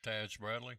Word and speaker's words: Taj Bradley: Taj Bradley.